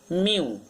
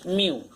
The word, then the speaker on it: mu: Pronunciation for this is mu. The pronunciation will be M-I-U, mu.